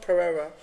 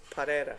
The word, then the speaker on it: Pereira: It's not Pereira. It's Pereira. Apparently. Sounds like with an L.